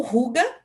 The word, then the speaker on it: Hygge: O Ruga, né, que é o que se escreve Hygge, que é essa tendência